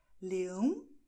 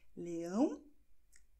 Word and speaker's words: leão: Noch ein Beispiel. Leão. Leões, beide nasal. Leão, leões.